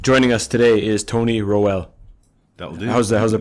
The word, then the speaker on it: Rowell: Joining us today is Tony Rowell. That'll do. How's the pronunciation? It's actually Rowell, but Rowell?